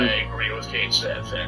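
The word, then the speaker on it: Cait Sith: It's actually Cat-She, but that's only if you're referring directly to the specific creature of legend. The character in Final Fantasy VII, as per Square Enix, is Kate Sith. That's also the same pronunciation you have for the character in 14.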